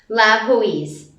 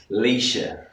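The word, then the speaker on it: Laoise: Because this is how I would read it if I were to see the name. Louise. Every time I see that name, I just go, Louise, and Cameron corrects me and says... Leisha.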